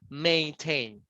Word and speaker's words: maintain: But in the other way around, you have the intonation in the last syllable, tain. So it's a verb, maintain, maintain.